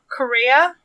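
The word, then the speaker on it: Kureha: Correa.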